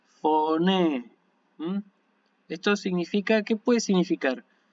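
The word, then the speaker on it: φωνή: Si ustedes quieren distinguir la cantidad de las vocales sería foné, foné.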